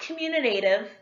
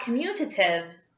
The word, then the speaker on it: commutative: It's not commutative, it's not commutatives, it's commutative. Even though it doesn't look like it, that's the correct pronunciation of the word.